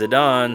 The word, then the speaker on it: Zidane: I always pronounced it as Zidane as a kid, but I guess in Dissidia they officially pronounced it as Zidane, so Zidane it is, I guess.